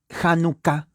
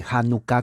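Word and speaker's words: Hanukkah: 23 y la palabra janucá se escribe con h la H es J Entonces se dice janucá con doble K januca no en la morfología española es con j no janucá pero es con h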